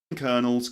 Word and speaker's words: colonel: But kernel written colonel, that's um a senior officer in an army. All right. And as he said, as he very well said, these two words are homophones.